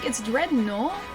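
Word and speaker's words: Drednaw: It's Dreadnought, I think is how it's spelled, so like D-R-E-D-N-A-W? I think that's how it's spelled, but it's basically Dreadnought, yes.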